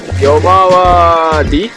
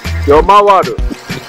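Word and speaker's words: ヨマワル: Yomawari. Yomawaru.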